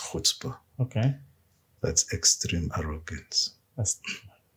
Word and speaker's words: chutzpah: There's a word maybe that I will use is called chutzpah. Chutzpah. Chutzpah. CHU. Yeah. TZPAH. Okay. Chutzpah. It's pronounced chutzpah.